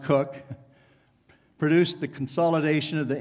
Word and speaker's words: Coke: In approximately 1600, Sir Edward Coke, usually pronounced Cook, produced the consolidation of the English law in written form.